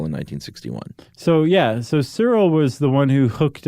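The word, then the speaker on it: Searle: was syntax and Cyril so how do you pronounce it Cyril Cyril that's what I'm going with s-e-a-r-l-e Cyril Cyril uh here you say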